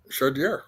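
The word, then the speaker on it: Chaudière: Shier. Autodrome Shodier. God, you must want if I got it right. Did I pronounce this right?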